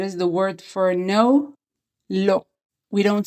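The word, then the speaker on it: לא: Lo. We don't say it lo, we say it lo. And the closest word in English to lo, how we pronounce it, is law.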